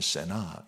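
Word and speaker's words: סְנָאָה: 특별한 사람입니다 왜 그러냐면 히 발음으로는 세나 이렇게 되는데요이 세나라는 이름의 뜻이 증오 혐오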